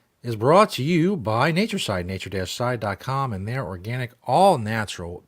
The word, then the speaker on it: Natureside: If you listen to the audio version of the show, Side is spelled C-I-D-E, as in pesticide, but not pesticides.